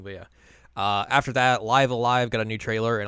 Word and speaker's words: Live A Live: you pronounce that game live Alive live alive okay yeah not live a live well there's so many